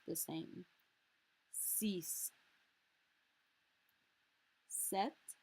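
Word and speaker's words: sept: pronounced the same cease set set notice we're more or less skipping that p entirely wheat wheat there's no h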